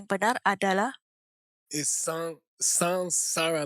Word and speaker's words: Saṃsāra: all, the correct pronunciation Pertama-tama, pengucapan yang benar adalah is sansara, like S-A-N, not S-A-M. sansara seperti S-A-N, bukan S-A-M. You hear a lot of people say samsara.